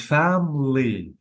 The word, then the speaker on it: family: camera and family yeah so be careful because the vowels are deleted I cannot say C you have to say camera I deleted the e or the vowel letter and family I didn't say family